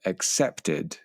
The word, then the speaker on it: accepted: Okay, and finally, the final 3 verbs all had the id sound at the end. So you should have said accepted, decided, and succeeded.